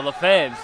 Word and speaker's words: Lefebvre: And the Lefebvres, that's the name that I asked for most help with, so there we go. I didn't even have to ask there. Lefebvre. So. The BV you don't pronounce.